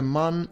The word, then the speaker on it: Mun: And you will notice that we call it Mun because it's written M-U-N, as opposed to the Earth's moon, which is spelled M-O-O-N.